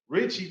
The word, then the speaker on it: Ritchie: Associates, the Soldiers coach, Ritchie. Ritchie, don't call me Rich T. whatever. I love it, man. If y'all don't know, the T is silent.